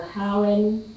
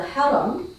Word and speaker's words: haram: idea of the of the Harin which is how it's known in Western culture it this effectively the king whereas the Haram which is what the actual pronunciation of term is this the term that